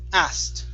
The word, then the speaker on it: asked: word asked right here instead of asking it's asked with a t sound at the end asked okay very good